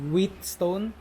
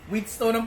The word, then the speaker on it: whetstone: "Difference between a whetstone and a honing steel? What are their purposes?" -Whetstone is how it's pronounced, actually. -@#$% It's alright. "The more you know." 'Cause I'm starving. Wheatstone?